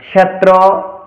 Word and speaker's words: ক্ষেত্র: এবার ক্ষেত্র এবং শিক্ষা হচ্ছে আমাদের বাংলা উচ্চারণ। এই ক্ষেত্র এবং শিক্ষা অর্থাৎ এই কিয়কে, এই কসমলিক্যকে সংস্কৃতে কিরূপ উচ্চারণ করব, তাহলে অবশ্যই এটাকে উচ্চারণ করবো আমরা ক্ষেত্র, এবং এটাকে উচ্চারণ করব শিক্ষা।